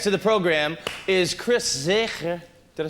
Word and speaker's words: Zegers: Our next guest to the program is Chris Zegers. Did I say it right? Zegers? Zegers. Zeggers.